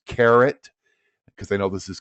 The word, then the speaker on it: Karat: you to write down this uh website it's carrot because I know this is kind of small up here it's ka r a t that's carrot and then K and then the little hyphen